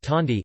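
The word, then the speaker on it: candi: sculpturally topic Indonesian architecture temples are called candy pronounced tandi in Indonesia whether it is Buddhist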